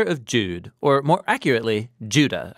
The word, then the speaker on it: Judah: Jude or more accurately Judah according to the pronunciation of his name both in Greek and in Hebrew Judah was one of